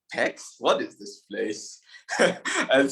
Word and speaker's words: Pécs: At this moment, I did not even know that the pronunciation was Pécs. So when I saw my name, I was like, Pécs?